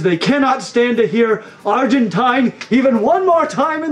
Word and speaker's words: Argentine: late Gus Gus here now I am aware that my pronunciation of the word Argentine just triggered a few people we have received honestly a ton of comments about how annoying it is that I say Argentine instead of Argentine some people have even